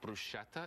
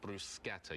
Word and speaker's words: bruschetta: and it's not pronounced bruschetta it's pronounced bruschetta you actually say the k sound and what's great about